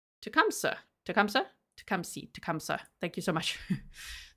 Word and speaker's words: Tecumseh: Tecumseh. Tecumseh. Thank you so much. Thank you for the pronunciation assistance.